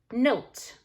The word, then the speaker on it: note: But if I were to put an E on the end, it now becomes note.